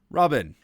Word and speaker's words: R0BN: You may also be able to pronounce it as Robin.